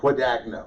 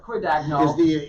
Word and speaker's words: Guadagno: Guadagno. Guadagno. Is the American pronunciation. If we were in Italy, you'd say Guadagno. Guadagno, so. And you'd spell it with a G, not a Q.